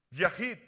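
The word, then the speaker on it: יחיד: Por ejemplo, hay uno que se llama uno y se pronuncia Yahid, es la H 3173, Yahid.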